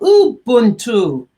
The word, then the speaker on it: Ubuntu: My friends keep on saying to me, Pearl, say it correctly, because it sounds like there's an M and it's spelled U-B. So say Ubuntu.